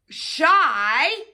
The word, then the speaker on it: shy: shy one sound so if it's a short word like our shy friend Ricky over there right because we know he can be shy sometimes right we know the word I the Y says I correct all right let's see